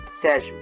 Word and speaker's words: Sejm: Is this pronounced same like the G is a Y in German, or Sejm? I'll go with same.